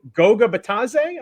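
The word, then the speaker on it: Goga Bitadze: Goga Batadze, I believe that's how you say it.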